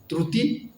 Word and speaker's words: ত্ৰুটী: উকার ক্রুতি হয়ে গেল কিছু মানে ত্রুটি তো ক্রুতি কয় ত্রুটি তো ক্রুতি লিখে উঠলে বিভিন্ন সমস্যা